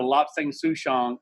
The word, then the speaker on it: Lapsang souchong: With a little bit of Lobsang Souchong, I like making my own tea. Yeah. Yeah. I love Kanye. He just makes And me happy. lapsang is actually it's a wonderful tea.